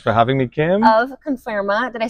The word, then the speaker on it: Conferma: Of Conferma. Did I say that right? You said it right. Conferma, yes, that's it.